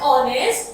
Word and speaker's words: honest: Now in honest and R, H जो है वो हमारा साइलेंट होता है, तो H के बाद क्या है?